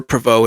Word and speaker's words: Provost: You know, Mount Provost or Pvau, it's kind of pronounced both ways.